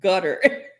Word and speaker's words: Qatar: look at Harlan Garda said there's a place called Qatar. It's pronounced gutter.